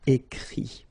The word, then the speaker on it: écrit: Remember that even if you've got this final t, you don't pronounce it, so it goes like écrit, okay.